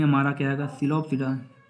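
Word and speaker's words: Psilopsida: सिलोप्सिडा में हमारा क्या आएगा, सिलोप्सिडा पी साइलेंट है इसमें।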